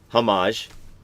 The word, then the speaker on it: homage: said this week and I've been saying it wrong. Homage.